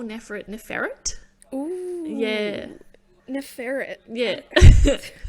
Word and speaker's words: Neferet: First of all, they call Neferet. Ooh. Yeah. Neferet. Yeah. It's giving me like you know, like a ferret, like rodent exactly, vibes.